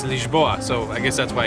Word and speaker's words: Lisboa: Why did I say Lisbon? Lisbon, welcome to Lisbon. We actually learned that the way to pronounce this place is Lisboa, so I guess that's why it came out.